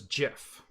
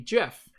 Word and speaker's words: GIF: when I hear when everyone that I know says gif and then I had the opposite experience everybody I knew said gift which is why you think you're right and why I think I'm right yeah it's because Regional differences uh of dialect and interpretation and reading and pronunciation led us to believe that was correct but then when the Creator comes out and says no no I wanted it to be Jeff it solidifies one side